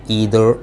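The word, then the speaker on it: either: आपको बताता हूँ, हाँ, नीदर, ये नाइदर भी पढ़ा जाता है अमेरिकन इंग्लिश में, बट द correct pronunciation in British English is नीदर नॉर ईदर और, राइट। मगर नाइदर और आइदर भी फैशन में है, चलेगा, गलत नहीं है।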